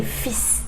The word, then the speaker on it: fils: So, for example, bus, bus, fils, fils. In that final one, you have an L, but we don't pronounce it. We don't say fils, we say fils, fils.